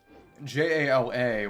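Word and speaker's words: Jaller: Which was funny, but his name spelling was changed from J-A-L-A to J-A-L-L-E-R, but it still had the exact same pronunciation of Jala.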